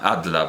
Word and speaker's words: Adler: Es que Adler era, bueno, lo voy a pronunciar en alemán, Adler, pero así evidentemente no se pronunciará en danés.